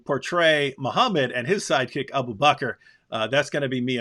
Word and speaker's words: Abu Bakr: Anyway, of course, Abu Bakr, if you pronounce it that right way, rhymes perfectly with cracker.